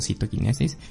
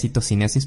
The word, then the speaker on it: citocinesis: parte de citocinesis o citoquinesis, que en realidad es citocinesis, pero en inglés se escribe con K, entonces a veces digo citoquinesis.